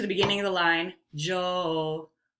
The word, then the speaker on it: njoo: the first sound um joe j-o-o-n-j-o-o just pronounce it without that n on there that would be my recommendation so it would you would say jo that means come joe